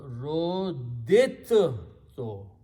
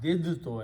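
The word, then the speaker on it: رُدِدتُّ: a ta, okay, so we do not pronounce the second dal because the makharij of dal and ta are very close in the tongue.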